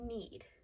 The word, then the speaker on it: knead: So here the K is silent. We do not say the K.